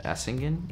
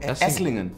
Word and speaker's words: Esslingen: ago, I went to Essingen. Is that how you say it? Essingen? You know, near Stuttgart? Near Stuttgart. Esslingen.